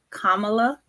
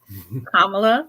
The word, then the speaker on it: Kamala: her name is pronounced Kamala um comma Kamala like the punctuation La so yes so Kamala um yeah I just